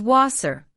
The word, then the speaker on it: Wasser: W is pronounced like an English V. For example, water is wasser.